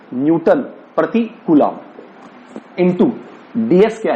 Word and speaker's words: Coulomb: हिंदी में बोलना पड़ता है कूलाम।